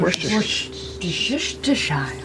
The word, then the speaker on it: Worcestershire: Worcestershire. Worcestershire. Worcestershire. Worcestershire. You're right. I mean, it's spelled so differently than the way that you actually say it. Worcestershire.